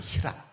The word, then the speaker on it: 희랍: 다른 말로 헬라도 그럽니다 헬라 하는 말을 중국 사람들이 한자로 썼는데 그걸 우리 식으로 우리가 발음을 하면 그게 희랍이에요 희랍 그래서 희압 문명 헬라